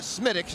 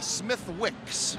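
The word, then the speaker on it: Smithwick's: the funny thing is you call it smitics and that's the pronunciation but the spelling looks like it should be smith wicks absolutely but if you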